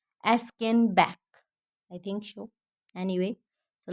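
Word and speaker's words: Aschenbach: Actually, there might be there might be some error in pronunciation of his name. Okay, so I hope you understand that it's Gustav von Askenbach.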